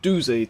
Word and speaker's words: Doozer: where the dozer was well doozy technically his name is i call it dozer i know i know i say it wrong but it's whatever um